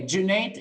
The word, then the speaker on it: Junaid: Okay, Junaid, it's like the month of June and then an 8.